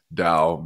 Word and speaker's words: Dao: going with standard Chinese, it makes more sense, and I think it's more appropriate to say it and spell it with a D. And so I've had lots of questions about Dao because of this crypto